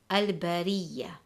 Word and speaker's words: al-bariyya: And if the letter ra has a kasrah, then we will read the ra light, as the example, al-bariyya.